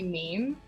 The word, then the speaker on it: meme: So the correct pronunciation is definitely meme because it rhymes with gene.